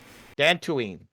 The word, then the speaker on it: Dantooine: dan do we the damned white dan tooween dantooine that that's what i've been saying the whole